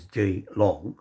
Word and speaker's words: Geelong: Now, Geelong, this is Geelong, not Geelong. It's Geelong, is down on the southern side of Melbourne in Victoria, down on the coast to the west.